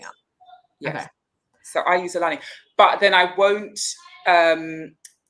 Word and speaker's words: Xolani: okay so I use Alani but then I won't um I will overemphasize the Z and so they will just spell it with a with a Z yeah what I found